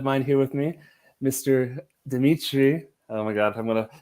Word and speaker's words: Dimitri: it's like like in in english pronunciation would say okay dmitry and that's not too bad right yeah yeah that's not not too bad but still not uh not russian way i said the english